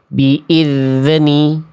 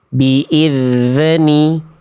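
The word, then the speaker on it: بِإِذْنِ: Contoh memantulnya macam ini, Teman-teman. Biidzni. Biidni. D ni d ni terasa ada bunyi d di ujung pelafalan d kerasa enggak biidzni. Nah, itu tidak sepatutnya huruf dal dilafalkan dengan sifat memantul seperti itu.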